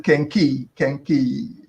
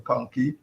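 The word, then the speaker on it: kenkey: And well, people call it kenki, which is the correct pronunciation, or kanki.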